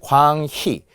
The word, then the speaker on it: 광희: 자, 그럴 때 광희, 발음으로 보면은 희라고 발음해야 된다는 거예요.